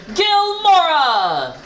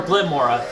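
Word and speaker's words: Glimmora: Be the light that guides all trainers, Gilmora! Anyways, the thing, or Glimora, actually is what it's pronounced, but anyways, this Pokemon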